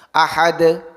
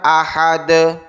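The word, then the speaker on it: أحد: Ahad. Ahad. Bukan ahada atau ahadi.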